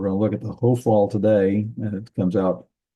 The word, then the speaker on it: Hophal: The accented syllable is the one is the all. So it's Hophal. That's why we call it Hophal.